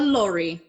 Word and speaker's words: lorry: a truck or a a lorry which does sound like the name laurie if you were gonna